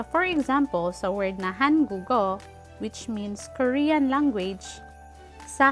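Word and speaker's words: 한국어: So, for example, sa word na hangugo, which means Korean language, sa halip na hanguk o, ang basa sa kanya ay hangugo. Hangugo. Nagiging connected ang patchim na G sound plus O, kaya nagiging hangugo.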